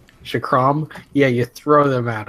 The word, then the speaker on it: chakram: I mean, whatever the ultimate thing is, you just like throw a bunch of chakras. Yeah, that's how you pronounce it. Chakram. Chakram.